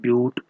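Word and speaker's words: but: जिसमें 4 carbon atoms होते हैं उसको हम लिखते हैं ब्यूट। इट is written as बट, ब्यूटी बट pronounced as ब्यूट।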